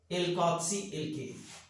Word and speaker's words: अल्कॉक्सी एल्केन: अल्कॉक्सी कहते अल्कॉक्सी एल्केन अब उच्चारण बिल्कुल ऐसे ही करना है अल्कॉक्सी एल्केन ठीक है अब जैसे मान